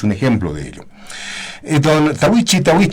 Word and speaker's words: Tahuichi: En realidad no se dice Tahuichi, se dice Tahuichi. Tahuichi con como T. Todo está con T. Tahuichi. Como el talla. Como todo está castellanizado, se dice Tahuichi, ¿no? Suena así.